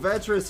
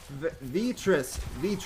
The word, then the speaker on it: Vitris: Oh, Vetris here. Vitris. I'm sorry, Vitris. I've been mispronouncing your name as well.